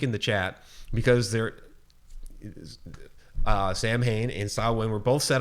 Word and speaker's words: Samhain: it's a Gaelic okay okay and it is pronounced it spre nounce saw when spelled either s o w I in you know with the difference with the difference between the two or s.a.w i n saw wind or saw one so there's just a slight